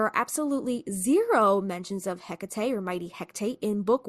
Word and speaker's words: Hekate: Then we have the movie that introduces this resurrection lore, mispronounces her name, so we think, right? The Hektate.